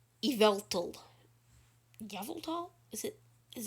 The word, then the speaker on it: Yveltal: watching that video come to my video the pronunciation of yavltal started in a pokemon talk episode he knows it's yveltal gavel tall is it is it evil dog